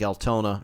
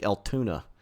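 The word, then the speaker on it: Altoona: leads down into uh Lake Altona or Al I just said it wrong Lake Altuna which uh provides the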